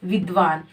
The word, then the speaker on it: विद्वान: रहे हैं विद्वान का तो यहां पर विद विद विद्वा विद्वा यानी व का उच्चारण जो हो रहा है लंबे समय तक हो रहा है इससे ये साबित होता है कि ये जो हमारा व है वो पूरा है अब इसको हम अलग